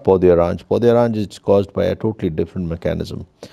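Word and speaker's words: peau d'orange: Anyway, so we go to the other entity, which is called Podhyaranj. Instead of, it should be pronounced as it is. It's a French word, Podhyaranj, the orange peel appearance.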